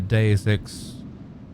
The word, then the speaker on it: Deus Ex: I haven't actually played a Deus Ex playthrough ever.